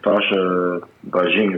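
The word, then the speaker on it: Sascha Bajin: Beijing Sasha, is that right? Yeah, Sasha Beijing, as far as I know.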